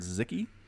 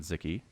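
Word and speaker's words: Sziky: Man, it was an amazing game between White Raw and a Hungarian player named Zicky, which is spelled S-Z-I-K-Y.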